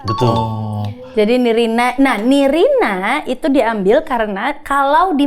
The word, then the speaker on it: Nirina: Nah, Nirina itu diambil karena kalau di Madagaskar panggilan apa ya namanya ya? Kebangsawanannya tuh namanya Nirin, tapi penulisannya Nirina tapi dibacanya Nirin.